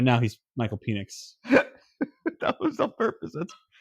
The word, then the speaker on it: Penix: Why did you say it like penis? Because he's playing like penis this year. If he was playing well, I'd call him Penix, which is what his name is.